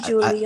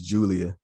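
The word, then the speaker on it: Giulia: really pronounce her name but it's spelled g-i-u-l-i-a yeah it might be julia i i think it's as it's julia yeah okay yeah julia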